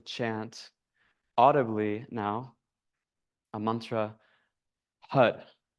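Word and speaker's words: HAR: audibly now a mantra, HUD. It's spelled H-A-R, but we pronounce it like H-U-D. HUD. The tongue flicks the roof of the mouth with that R sound.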